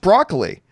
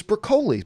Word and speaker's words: Broccoli: bucoli is it Barbara Brock wrong it is pronounced broccoli the family act had something to do with broccoli itself I actually always thought it was brocoli but there you go broccoli it is anyway